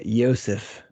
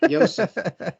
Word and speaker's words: Yosef: The mascot is named Yosef. Yes, that is correct. Yosef. Now, is it spelled with a J or a Y?